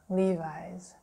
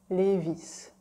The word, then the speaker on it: Levi's: then you have Levi's Levi's in French we never ever say it like that we say leave its Levy's Levy's yeah we totally like omit the like the s part like it's Levi's you know